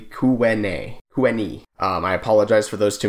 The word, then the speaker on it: Tyuonyi: I call it the Galisto Basin when it is the Galisteo Basin, as well as Tyuonyi is actually Kuweni.